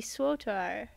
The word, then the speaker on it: SWTOR: But if it's KOTOR, then it would be SWOTOR. SWATOR. SOTOR.